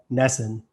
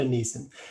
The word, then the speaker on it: Gnesin: amazing story of transformation with our guest nessen did i pronounce that right but close neeson is an integrative health and nutrition coach